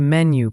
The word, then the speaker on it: menu: And menu has the stress on the first syllable. Menu.